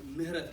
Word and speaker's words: Mihretab: So my name is actually pronounced Mihretab. I don't expect any of you to be able to say that.